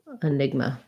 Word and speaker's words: enigma: or neg and then the letter a at the end is going to be a schwa so it sounds like enigma that's an enigma okay